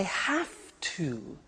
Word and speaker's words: have to: hear my pronunciation I have to notice I don't say V I say f have have it becomes have to have to becomes in pronunciation have